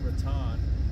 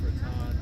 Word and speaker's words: Raton: I want to say that we're here in Raton, and I know it's not pronounced Raton because we've been coming up here for 30 years and we've been mistaken. It's Raton.